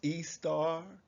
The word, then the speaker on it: Ishtar: is actually come from ishtar but it's actually pronounced e star and esther in your